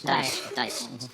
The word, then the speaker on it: Daesh: It's Daesh. Daesh. So it's kind of like what Sean Connery plays backgammon with.